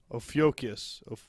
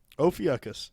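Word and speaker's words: Ophiuchus: o p h i u c u s ofus yeah oakus that's where we're going with oakus well anyways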